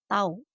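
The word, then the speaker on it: τ: benda berotasi atau berputar simbolnya seperti huruf t dibacanya tahu torsi adalah besaran vektor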